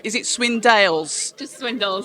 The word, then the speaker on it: Swindells: what pisses me off is when people don't pronounce is it swindolles just Swindle swindles which has been getting a lot of stick